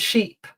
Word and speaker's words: sheep: Um yeah, ship and sheep. sheet. So it's that short versus that long sound.